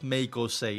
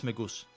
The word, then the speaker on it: Megose: It's not Megose, it's Megoose. It's Megoose for me.